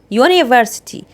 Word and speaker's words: university: لو نطقته يو يبقى كده ده من الأصوات الساكنة لكن أنا نطقته هنا يو university يبقى ده إيه صوت ساكن يبقى أجيب قبلها